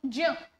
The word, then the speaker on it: ज्ञ: और ज्ञ बताइए। ज्ञ तो ज धन ञ ज इसको ज्य प्रोनाउंस कीजिए।